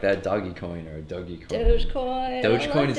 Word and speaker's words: Dogecoin: No, so Dogecoin is the pronunciation.